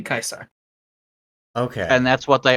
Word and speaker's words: Caesar: Target creature DJ kaisar Caesar Kaiser that's what the traditional Latin pronunciation would be kaisar okay and that's what